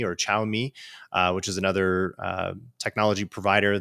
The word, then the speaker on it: Xiaomi: So like Huawei and ZTE, and how do you pronounce it? It's Xiaomi or Xiaomi, which is another technology provider that was trying to import products into the United States.